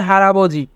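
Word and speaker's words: 할아버지: কারণে রিউল বাচ্চিমটি ইয়ং এর স্থানে যাবে তাই উচ্চারণ হবে হারাবজি হারাবজি মানে দাদা হালমনি হালমনি হালমনি মানে দাদি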